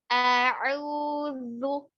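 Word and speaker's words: أعوذ: Pelafasannya itu huruf alif dulu. A'u berarti alif, a buka dulu, baru ain. A'udzu.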